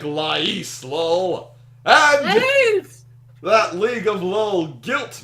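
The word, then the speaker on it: Lay's: How the hell can you compare Honey Buddha to Lais chips? Lays. It's pronounced Lays.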